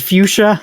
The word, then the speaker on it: fuchsia: Fuchsia? Is it fuchsia? It's fuchsia, which I have never known how to spell off the top of my head, but I will now.